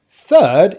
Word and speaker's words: third: the schwa second second third it's a bit like first it contains a letter r but i'm not going to pronounce the letter r because my accent is a non-rhotic accent and the vowel sound